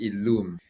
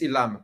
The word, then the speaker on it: illum.e: So Illum with the E is pronounced as Illum. Correct. And without the E, it's Illam. It's Illam.